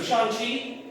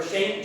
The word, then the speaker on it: Shang-Chi: Okay, so Shang-Chi, or Shang-Chi, if we're American, Shang-Chi for it, to say it properly in Chinese.